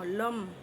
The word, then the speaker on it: লম: আমরা পৃথিবী ততটাকে নিয়ে ল অর ম লম লম উচ্চারণ করব লাম লাস্ট আমরা জলত্বটাকে